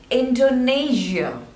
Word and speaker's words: Indonesia: Iceland this one is Indonesia there are trees labels endo and the stress is on the second one Indonesia not Shia it's you Indonesia Indonesia Indonesia Indonesia next